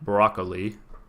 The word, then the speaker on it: broccoli: Yes, I pronounced it broccoli. Emphasizing all 3 syllables is very important to me.